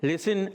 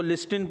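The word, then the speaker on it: listen: लिसन आपने सुना होगा, लिसन बोलते ना, उसकी स्पेलिंग में अंदर क्या आता है? टी आता है। हाँ, लेकिन उसको लिस्टिन पढ़ते हैं क्या? टी साइलेंट होता है।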